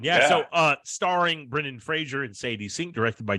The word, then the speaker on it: Fraser: just mispronounced his name I just learned it's Fraser phrase It's hard to say um Fraser that's right Brendan Fraser that's his